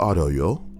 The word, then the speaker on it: arroyo: We came to the arroyo, just before the creek pool. The hell's an arroyo? Arroyo. It's literally pronounced like a gringo would pronounce it.